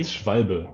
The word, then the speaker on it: Schwalbe: I don't have a German accent, so I'm going to butcher the name. It's fine. Schwalbe? Just try it. Schwalbe? Schwalbe, yeah.